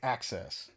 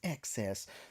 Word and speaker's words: excess: should hear me like every time I mispronounce uh excess I always say access always access I'm like a little access plastic I'm like it's excess the more hey the